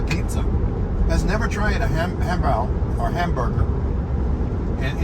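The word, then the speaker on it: 汉堡: has never tried a hambao or hamburger. And in Chinese language, it's pronounced hambao, very close.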